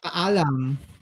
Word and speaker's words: Paalam: Paalam. That's a good, okay. It's a goodbye. Paalam. In Tagalog. Baalam?